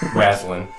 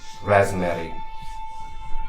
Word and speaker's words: Raslin: She turns to you, Raslin, first. She's, welcome, Raspberry. You didn't pronounce my name properly. It's Razziton? Raslin.